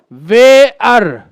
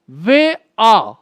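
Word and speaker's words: where: लिए आखिरी वर्ड है, इसको बोलते हैं कुछ लोग भेयर। री भेयर क्या होता है भाई? कुछ लोग बोलते हैं वेअर। वेअर, ये भी गलती। मैं आपको बता दूं कि इसका रियल प्रोनाउंसिएशन होता है वे आ।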